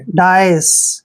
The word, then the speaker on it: dais: देखिए DA का उच्चारण हम करेंगे यहाँ पे डा, और आई को ई की मात्रा पढ़ेंगे और एस को से। डाइस, क्या पढ़ेंगे इसको? डाइस।